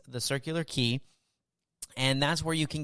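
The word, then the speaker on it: Quay: down to the circular key and it's pronounced key that's right i said that there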